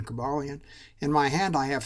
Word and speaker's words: Cobalion: a cabalian uh which some people pronoun pronounce various other ways but I prefer the pronunciation cabalian in my hand I